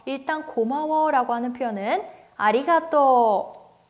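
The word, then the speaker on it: ありがとう: 고마워 라고 하는 표현은 아리가또 4 아리가또 우애 서 토 오후 발음 4 5 다음 과 보다는 질게 읽어야 된다고 했었어요 그렇기 때문에 아리가또 후가 아니라 아리가또 토를 길게 발음해 주시면 됩니다 반대로 미안해 에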